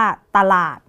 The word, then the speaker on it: ตลาด: คะ อย่าง ตัว นี้ พยัญชนะ ตัว ที่ 1 คือ ต เต่า ประสม กับ เสียง สระอะ เป็น ตะ ส่วน พยางค์ ที่ 2 เนี่ย จะ อ่าน ออก เสียง เหมือน มี หอ นำ นะ คะ จาก ล ลิง ล อาด ลาด หอ นำ เป็น หลาด คำ นี้ ก็ จะ อ่าน ว่า ตลาด คำ ที่ 2 นะ